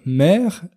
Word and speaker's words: maire: la ville d'ailleurs faites attention à ne pas confondre mire M a i r e pour parler de ce politicien et la mère M e accent grave R eu d'un enfant c'est la même prononciation deux orthographes différentes et ça ne veut